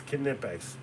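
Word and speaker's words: Knipex: And I think the the way it started was uh he's like, "Man, I love them nipex flyers." I was like, "It's Kipex." He's like, "What?" I was like, "Yeah, dude. It's Kipex.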